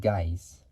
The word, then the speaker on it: Gies: It's like saying dies, but we're taking out the D and putting the G into it, so you get guys.